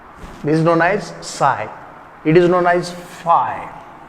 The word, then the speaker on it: psi: Volume integration of psi psi, p is silent. This is known as psi.